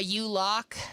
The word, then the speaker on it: Ulog: that right and how do you say your last name um you look i think of it like a u-lock okay it's okay though